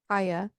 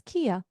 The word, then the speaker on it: Kaya: So just know, I wrote in my notes, we have Kaya, and I said, which I was pronouncing as Kia, like the car brand, Kia.